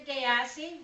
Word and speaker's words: Diassi: And that is primarily me, Diassi, rhymes with sassy.